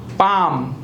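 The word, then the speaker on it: palm: Half, पता चल रहा है एल कहां पे साइलेंट है? पाम, हथेली को क्या बोलेंगे? पाम.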